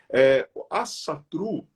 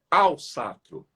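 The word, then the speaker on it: Ásatrú: Asatru, que na realidade a pronúncia correta é Alsatru, que eles articulam muito, né, a boca quando eles falam.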